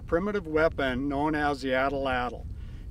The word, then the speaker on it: atlatl: Today we're going to talk about a primitive weapon known as the Atlatl. You can also pronounce it Atlatl, either is perfectly fine.